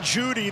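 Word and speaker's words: Jeudy: from the pocket jerry judy the e is silent nothing else about him everything else is loud tyler beatty will bring it back short of the 20.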